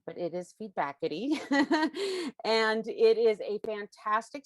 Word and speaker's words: Feedbackity: service steve bakity which at first i kept mispronouncing as feedback city but it is feedbackity and it is a fantastic screening service that